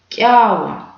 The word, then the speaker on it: кява: Мы сразу вспомним, что это звук К, и читается он как в слове кузнечик.